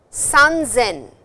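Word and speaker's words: 三千: Nisen, sanzen. So, please notice it is not sen, it is zen, san zen, san zen.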